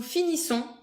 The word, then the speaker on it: finissons: Then the plural has a different pronunciation. Je finis, tu finis, il finit. Je finis. Tu finis. Il finit. Then, nous finissons.